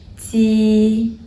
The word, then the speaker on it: ji: If you really want to find something similar in English, deep, ji. But the difference is that this Chinese pinyin, ji, your tongue body is more close to the hard palate than the English deep.